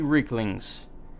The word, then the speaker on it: Reekling: They appear to be Reeklings.